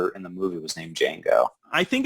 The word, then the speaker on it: Django: the movie keep saying oh django the d is silent and he's and he's